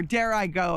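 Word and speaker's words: Dirigo: we have our motto dgo which means I lead or dare I go is actually how it's pronounced we are the mighty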